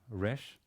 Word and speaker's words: Resh: Then there is the Resh, which is pronounced either as a front of the tongue R, or as a back of the tongue R. Now you can choose what you like.